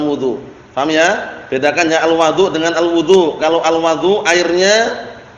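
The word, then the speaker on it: الوَضوء: Ma bacanya gitu ya alwadu kalau di fathah alwadu wau fathah berarti airnya kalau alwudu perbuatannya alwaduu Bil Fathi Alma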